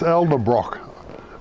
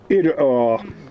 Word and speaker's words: Edelbrock: This Elderbrock, how do you say that? Edelbrock.